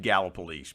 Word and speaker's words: Gallipolis: the on the i i've always said gala police because people over there if you if you don't say it right you know you you have to act like you live there and so people taught me early when i moved up there it's gala police but it's interesting you